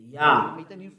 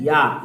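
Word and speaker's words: יה: How to pronounce it? Yah. According to the Hebrew, when you see this word, it is read Yah in Hebrew.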